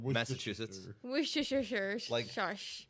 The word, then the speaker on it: Worcestershire: I believe it's called Worcestershire.